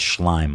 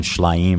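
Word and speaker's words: Shlaim: He kept mispronouncing it. It's Schleim. Avi Schleim. He was calling him Schleim or something.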